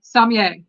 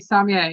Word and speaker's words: sommelier: So what is a sommelier? And it's Sommelier. They pronounce it a Subway. Sommelier. Sommelier. It is a French word. The R is kind of silent.